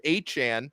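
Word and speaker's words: Achane: rookie record Devon now we call him a Chan he announced that that's how he wants his game pronounced he we can he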